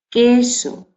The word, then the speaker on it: queso: velar sordo de queso queso no se pronuncia cu si se pronuncia que queso quizás después tenemos la